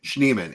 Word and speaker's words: Schneeman: For those of you out there, there was a little discussion this week on how you say it. Schneeman, it means snowman in German.